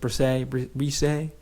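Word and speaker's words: Bresee: Okay, it's spelled Brees, but I guess it's Brisset.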